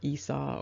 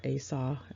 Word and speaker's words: Esau: the name a saw many people pronounce the name Esau and so you might hear Esau or a saw used interchangeably let's quickly turn our